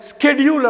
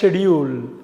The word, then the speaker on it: schedule: அமெரிக்காவில் இதை ஸ்கெடியூல் அப்படிம்பாங்க, SCHEDULE. அமெரிக்காவில் ஸ்கெடியூல், யூகேல ஷெடியூல். அந்த ஸ்காவை யூஸ் பண்ண மாட்டாங்க.